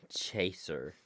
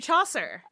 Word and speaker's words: Chaucer: Geoffrey Chaser. Yes, very close. Geoffrey Chaucer.